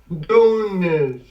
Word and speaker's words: Donis: Actually is pronounced Donis. Hey, Donis, how are you? Is not Donis, is Donis.